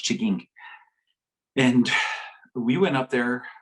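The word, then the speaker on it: M'Chigeeng: an anishinabe community it's spelled m-c-h-i-g-e-n-g which is pronounced chigging and we went up there i went up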